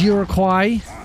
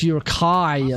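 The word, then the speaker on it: Uruk-hai: going to attack these Uruguay. Urkquai. That's not what how it's pronounced. Uraquai. Oh, Uraquai. It's pronounced Urakai, ladies and gentlemen.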